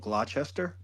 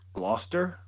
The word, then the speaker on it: Gloucester: Just like Gloucester County, it's spelled Gloucester, Yeah. but it's Gloucester. It's pronounced Gloucester, What is right?